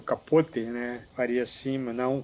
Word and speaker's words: Capote: Truman Capote, algumas pessoas pronunciam Truman Capote, mas na verdade o sobrenome dele é um sobrenome herdado, né, do seu padrasto, que era cubano, então por isso que eu falo Capote, ou Capote, né, faria assim, mas